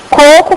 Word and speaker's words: coco: Pelo seguinte, em coco, qual é a sílaba tônica? O primeiro. Em cocô, qual é a sílaba tônica? Eu não troquei a posição do acento. Porque cocô tem acento no último O.